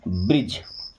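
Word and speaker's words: bridge: इसको देखिए क्या पढ़ेंगे ब्र ड गे नो पहली बात तो यहां से डी साइलेंट है जब भी जी के पहले अगर डी आ रहा है तो साइलेंट हो जाता है ओके तो डी तो हमारा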